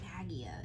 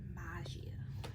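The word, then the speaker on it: Maggia: the magia goons yeah we've been mispronouncing it and thank you to the insomniac uh spider-man ps4 game that actually told me how to pronounce that by having a character say it yeah we've been saying nagia it's maggie mafia yeah because they're kind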